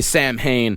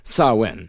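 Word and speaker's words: Samhain: They will get very angry with you if you say Sam Hayne instead of Sawin.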